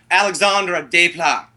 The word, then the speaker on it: Alexandre Desplat: He hates Alex, and I'm going to pronounce it all Canadian, French, hoity-toity. Alexandre Desplat.